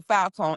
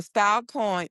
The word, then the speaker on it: Filecoin: So, Foulcoin, it's spelled F I L C O I N. So, it launched what actually launched on November 18th. Um, well, Falcoin onchain cloud.